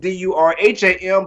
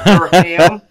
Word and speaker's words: Durham: We spell it Durham, but it's not two syllables. It's not Durham.